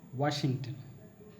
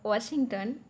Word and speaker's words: Washington: The last one is Washington. Now, when we produce the W sound, remember one thing: we need to open our mouth completely.